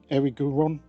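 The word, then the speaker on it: Erigeron: Eric, Eric Guron. As you can tell, the pronunciation's a bit odd. E R I G E R O N.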